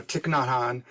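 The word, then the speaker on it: Thich Nhat Hanh: the heart of the buddhist teaching and so tiknotan his name is spelled t-h-i-c-h not is n-h-a-t and han h-a-n-h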